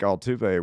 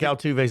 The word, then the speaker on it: Altuve: I think Altuve wants to play his entire career here.